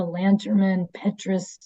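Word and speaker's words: Lanterman-Petris: It's the Lanterman Petrus, I actually said it right, act that just was put in place to protect those people that have mental illness.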